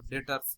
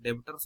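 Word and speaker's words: debtors: Cash को, stocks को, डेटर्स, डेटर्स याद होगा, डेबिटर्स नहीं पढ़ना है तो बी साइलेंट रहेगा यहाँ पे, ठीक है, बी हमेशा साइलेंट रहेगा।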